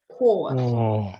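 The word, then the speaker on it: кот: If letter O is stressed or only one O in a word, like cot, we pronounce this like an alphabet. O, cot, O, cot, cot.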